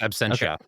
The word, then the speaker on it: Absentia: his own work you know his work from Absentia am I pronouncing that right yes Absentia Absentia Oculus geralts Gerald's Game which is based